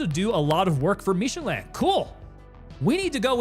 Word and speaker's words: Michelin: It's also less French pronounced. It's literally the tire company, so we're saying it's just Michelin. It's Michelin.